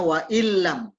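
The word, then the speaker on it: وَإِن لَّمْ: Jadi kita kasih baca perpotong ya. Wa in lam. Ya, tapi kalau bacanya wa illam. Ya, cuma baca potong ya. Wa in baru lam.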